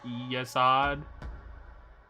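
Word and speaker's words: Yesod: Hot is just spelled like God but with an H. Saying this events and names are spelled yesad as in yes and odd as in god.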